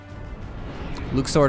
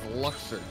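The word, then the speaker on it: Luxord: too smart let's go luke sword is the right pronunciation in japanese though yes so who cares okay so we've known him forever as luxor yeah localization is a thing you can also call him luck saw though if you want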